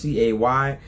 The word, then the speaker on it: Cay: today we are at msc's Private Island Ocean Key it's pronounced Cy but they pronounce it key and so I've